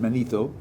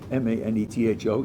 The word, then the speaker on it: Manetho: there was an Egyptian priest named, I think it's pronounced Manetho, Manetho, you can look this up, who said that